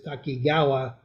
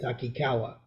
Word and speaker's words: Takikawa: to find her because her name on her school's website was Takigawa, and the family had always pronounced it Takikawa.